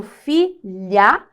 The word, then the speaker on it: filha: letras tudo bem mas quando eu tenho Filha veja que esse LH é como se fosse um som apenas então nós temos quatro